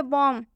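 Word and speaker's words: bomb: Next example देखिए, बॉम। बॉम में भी एम के बाद से बी आया हुआ है, इसलिए इसमें भी बी साइलेंट होगा।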